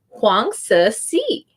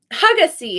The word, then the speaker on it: Huang Si: Her name is Huang Si. So you don't pronounce the N. Don't ask me why. Huang Si. And the I right here is like, I used to call her Hugacy, and she was saying